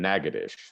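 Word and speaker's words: Natchitoches: is up here in nagadish uh and you'll just have to trust me that that's how that is actually pronounced um and this is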